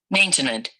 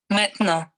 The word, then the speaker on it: maintenant: So, the first part here will show how I would probably say it if I was not Francophone. Maintenant. And then this one here will give it with a French pronunciation.